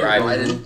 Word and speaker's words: Raiden: Raiden. Yep. That's how you pronounce it?